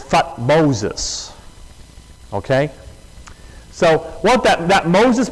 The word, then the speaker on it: Thutmose: you want to say Thutmose, but the way the Egyptians, a lot of times in their spelling, they would skip over a couple letters. So the way the Egyptians pronounced it was Thutmoses.